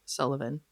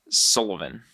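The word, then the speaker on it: Súilleabháin: So Pádraic Sullivan. See? This is why we help each other out. Pádraic Sullivan. In a nutshell, yep. Okay. It looks like it wouldn't be that, but it's pronounced essentially like Sullivan.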